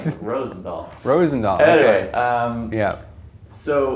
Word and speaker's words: Roosendaal: Because of the two O's, I always used to pronounce it Roosendahl, like an American. Right. Rosendahl.